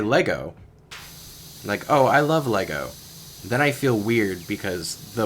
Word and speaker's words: Lego: I love Legos. I'm an adult, and I love Legos. Or Lego, I guess Lego is the correct pronunciation. I always feel weird about that, though. Because, I grew up saying Legos.